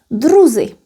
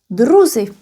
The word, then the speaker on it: druzi: However, if we want to say partners or companions, H would change into Z. Druzi. Druzi.